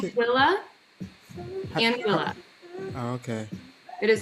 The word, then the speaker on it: Anguilla: You said in Angela. What do you call? How do you pronounce it? Anguilla.